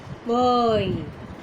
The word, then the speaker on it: buoy: Now observe this word. B, silent pronunciation of B, and strong, that is a stress on the syllable oi. On boy, on a boy.